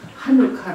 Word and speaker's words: 하누카: 카 에 대해서 알아보도록 하겠습니다 항구 칸은 어 스펠링이 양 액체로 시작하기도 하지만 ch 로 시작하기도 합니다 다른 헌법 모두 하누카 라고 하구요 우리 성경 신약 성경 말씀에는 수전